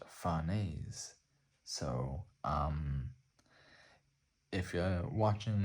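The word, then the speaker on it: Farnese: research into it and the name is a French name and it is pronounced fares so um if you're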